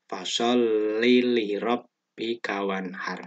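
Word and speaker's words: فَصَلِّ لِرَبِّكَ وَانْحَرْ: Bacanya li pendek semua ya. Jangan fasholli li rabbika. Nah, itu keliru. Yang betul fasholli li rabbika wanhar, gitu ya.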